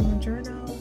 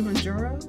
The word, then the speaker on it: Mounjaro: Because for the longest time, I've been saying Mounjaro. I think I'm adding an N. Should be Mounjaro.